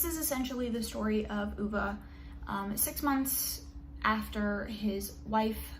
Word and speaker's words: Ove: so i just finished a man called uva which is how you pronounce this i have been pronouncing it wrong for about a month and a half now so we love that